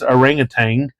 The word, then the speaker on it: orangutan: it um now uh we also pronounce it here in Oklahoma orangutan as orangutang and imagine my surprise to discover that my dialectical pronunciation is actually a legit form of the word who knew over here